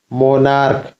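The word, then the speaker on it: monarch: मोनार्क, मोनार्क means होता है राजा, तो मोनार्क्स।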